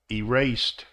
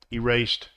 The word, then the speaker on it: erased: the D sound like erased so the E is silent erased zoomed again the E